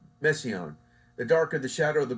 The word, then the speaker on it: Messiaen: Oh no, not Messiah. Messiaen.